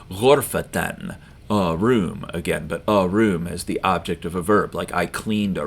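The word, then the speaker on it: غرفةً: And then if you were going to pronounce it with full pronunciation, you'd say ghurfatan, a room again, but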